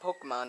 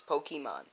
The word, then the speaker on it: Pokémon: Pokemon black Pokemon cuz there's an accent over the E remember that it's not Pokemon it's Pokemon uh I'm waiting uh